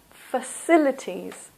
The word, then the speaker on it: facilities: singular amenity plural amenities the next one facilities this also is and the stress is here in the second syllable facilities so the city has